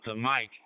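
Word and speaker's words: M1KE: They call it the mic, but they spell it M1 ke.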